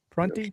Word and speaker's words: Prunty: Prunty, that's how you pronounce it. Karan Prunty.